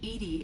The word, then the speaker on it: EDI: why are you named Edie Edie is the phonetic pronunciation of EDI that is an acronym for enhanced defense intelligence let's discuss something else